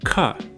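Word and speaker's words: ख: your aspirating that sound now try the second letter cut air should come out and move the paper got it so anytime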